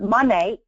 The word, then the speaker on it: Monat: a brief history um monate it's a derivative of two words modern in nature that's how we pronounce our name and it started a